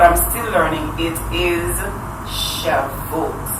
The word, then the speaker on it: Shavout: I thought I got the pronunciation right, you know, but I'm still learning. It is Shavuot.